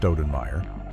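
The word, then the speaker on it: Stoudenmire: A lawman named Gus Kremer, who was pronounced Cremer, hired a man named Dallas Stenmeer, pronounced Stenmire, to be the new town marshal.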